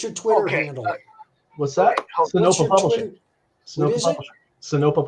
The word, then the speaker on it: Sinopa: Sonopa Publishing.